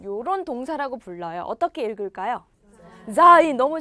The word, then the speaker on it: sein: sein 너무 잘 읽으셨어요. z 발음 들어가야 되고요. I 발음 들어가 있고요. 그래서 sein이라고 읽어요.